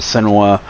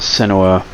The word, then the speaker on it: Senua: And I think Senua, her name is pronounced different ways here. The Darkness pronounces it Senua. Other characters pronounce it Senua.